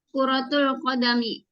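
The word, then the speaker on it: كرة القدم: ro-nya ada tasdidnya enggak? Di sini nggak ada. Karena itu bacanya jangan double ro-nya. Kurotul kodami, bola kaki.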